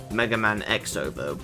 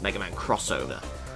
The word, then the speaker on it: Mega Man X Over: that so like uh mega man x over well it's actually pronounced mega man crossover or rockman crossover which was i think